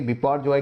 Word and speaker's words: बिपरजॉय: जैसे कि हमने देखा कि अभी जो साइक्लोन है इसका नाम है बिपरजॉय, इसको प्रोनाउंस करेंगे बिपरजॉय के नाम से, यानी कि विपत्ति यानी कि आपदा।